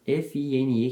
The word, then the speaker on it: Fine: Fine, meu amigão aqui falou que é F-I-N-E que se pronuncia, então vou falar Fine, que é a namorada do Simon.